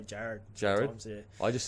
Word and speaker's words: Gerard: get this every day it's um it's actually Jared Jared Jared but um you know the hardest is when I'm ordering a coffee coffee yeah like what's your name j always say Jared jar I just say d now cuz I'm